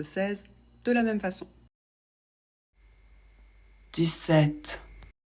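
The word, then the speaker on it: dix-sept: Ici, 7 commence par un S, donc on va le prononcer 10. 17. Pour la liaison, on ne la fait pas, on prononce toujours le T. Et pour la prononciation de 7, on ne prononce pas le P.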